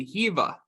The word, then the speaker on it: Hiwa: that introduction it is I was born in Germany and in German W's are pronounced like these so it's just been this like awful curse that my parents have put upon me where I constantly have to explain that my name isn't pronounced like it's spelled um but thank you